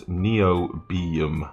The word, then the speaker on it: Niobium: In Eve, we all pronounce it as Niobium.